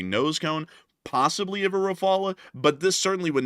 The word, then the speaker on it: Rafale: Do you pronounce it Rafale, Rafale, or Raphael? The answer is that it's not Raphael. Raphael was an artist. That's literally just not how you pronounce the name.